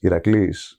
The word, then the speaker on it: Iraklis: When I came to America, my legal name still is Iraklis. But when an American sees the spelling, which is Iraklis, they would pronounce it Iraklis.